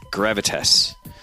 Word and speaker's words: Gravitas: League of Legends team in the OPL at Gravitas.